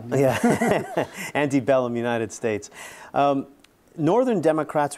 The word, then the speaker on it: antebellum: the civil war the antebellum united states every time i pronounce it anti i want to kick myself yeah anti-bellum united states um northern